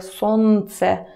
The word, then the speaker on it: солнце: word because this is another consonant that we don't pronounce. Actually, it sounds more like солнце, солнце, солнце. But even if you try to put L there, солнце, nobody will notice, so just, I'll leave it here.